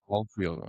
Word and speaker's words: Ahlfield: Somehow I've had an S put in there somewhere instead of an H when it's basically just the silent H and it's all field. So yeah, you got it right. Ahlfield.